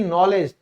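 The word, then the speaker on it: knowledge: ज्ञान यानी कि नॉलेज, तो देखो भाई एन से पहले आएगा तो के साइलेंट हो जाएगा।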